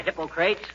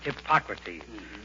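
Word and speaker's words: Hippocrates: Mrs McGee hello McGee hi hippocrate if you are referring to the father of medicine McGee it's pronounced hypocrates and if I wasn't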